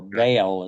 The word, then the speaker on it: Baal: uh brought she brought the worship of Bal or baale as as the southerners pronounce uh into uh Israel